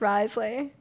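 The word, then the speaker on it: Wriothesley: It's like Rio Thessley, but it's pronounced Risley.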